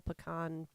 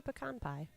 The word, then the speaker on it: pecan: Yeah, we had a whole pecan discussion.